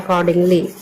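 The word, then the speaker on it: accordingly: इसको पढ़ते हैं अकॉर्डिंगली। ए से हुआ अ डबल सी से क ओ से ओ की मात्रा अको आर साइलेंट हो गया है।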